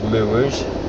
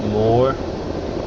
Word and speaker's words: moor: So these moors, as some people pronounce it more, as in M-O-O-R, but we in Lancashire we say moor, because more could be M-O-R-E, more of this, more of that.